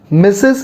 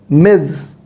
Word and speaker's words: Ms: miss the z sound say after me miz not miss miz all right great so